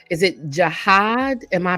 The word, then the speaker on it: jihad: It's called, is it jihad? Am I pronouncing it correctly?